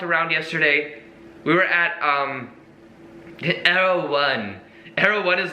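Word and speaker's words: Erewhon: We're eating them outside of this place called Arrow One, which is very fancy place.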